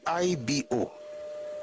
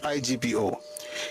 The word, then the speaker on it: Igbo: Actually, it's Ebo, it's Ibo. It's not IGBO.